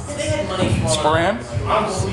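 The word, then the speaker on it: sporran: look at this how do you call this span span how do you spell that s p o r r a n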